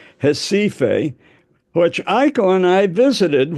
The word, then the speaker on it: Recife: The R is silent. Recife, which Aiko and I visited when Tim was, our youngest son, was working down there.